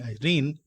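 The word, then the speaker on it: εἰρήνη: The Greek word peace, I'll spell it out in Greek, E-I-R-I-N-E, Irene, may convey the sense of inner rest, antarik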